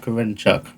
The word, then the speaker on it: Korenchuk: Well, I pronounce it as Ilya Korenchuk. That sounds good to me. I say Korenchuk. I'll go for that. Chuck, like Chuck Norris.